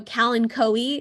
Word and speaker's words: kalanchoe: So kalanchoe is the proper way of saying it, but however, everyone still says Kalancho.